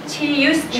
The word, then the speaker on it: 气: Remember that in Chinese we don't have this sound. We don't have this. We just have 气 Every syllable, every sound should be stressed very heavily.Qi, qi, you can, yes, you can hear them very clear.